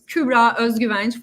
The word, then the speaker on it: Kübra Özgüvenç: And it's Kübra Özgüvenç for anyone who tries to spell it or not now while watching, just to help.